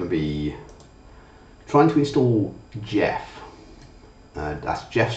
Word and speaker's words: GEF: if you see it gef pronounced Jeff is a set of